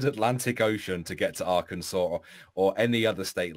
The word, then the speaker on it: Arkansas: There's a fucking S at the end, not a W. It's Arkansas.